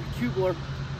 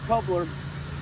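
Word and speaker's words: Kuebler: spell it, it's a K-U-E-B-L-E-R, Kubler, or coupler, and I've been playing with these rackets.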